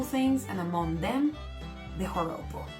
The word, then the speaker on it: joropo: The joropo, bear in mind that J in there is pronounced as an H, okay? So it's not joropo, it's joropo.